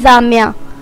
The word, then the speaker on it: Zamya: नाम है जामिया। जामिया नाम के इंग्लिश में स्पेलिंग है ZAMYA और इसके मायने हैं खिलता हुआ फूल।